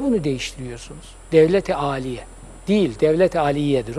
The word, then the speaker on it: Devlet-i Aliye: Onu da yanlış telaffuz ediyorlar. Devlet-i Aliye değil, dil düzeltmesi yapıyorum. Devlet-i Aliye'dir.